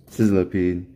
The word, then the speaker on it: Sizzlipede: Sizzlipede, that's how you say it.